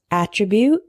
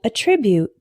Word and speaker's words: attribute: with me alternate alternate the next one is attribute and attribute attribute is a noun meaning a characteristic of